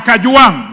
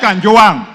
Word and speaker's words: Kajwang: Speaker first of all first first of all pronounce my name properly I'm Nota I am Kang not Kang number two Mr Speaker this is a problem